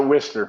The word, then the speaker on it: Worcester: Yeah, we pronounce it Worcester, but.